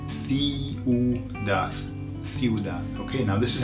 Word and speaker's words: ciudad: Okay, so listen to how it's pronounced. Ciudad.